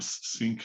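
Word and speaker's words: Snyk: gcp on it um i always say the name wrong sync sy nk the app dev company that's doing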